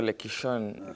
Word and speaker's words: Lekishon: You're Lekishon, kama Maasai kabisa. Dreams. Not many people are able to pronounce it.